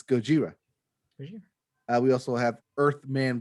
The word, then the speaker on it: Gojira: believe it is pronounced gojira yeah just like a godzilla just like the japanese name of godzilla yes yes it's gojira we also have earth